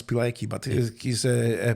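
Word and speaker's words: Pilecki: of Captain petki so I think you would pronounce pilki but is a p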